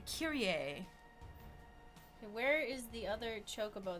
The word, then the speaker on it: Kyrie: extra speak it aloud spelled like not so Kyrie alright so this one it's actually a Curie a where is the other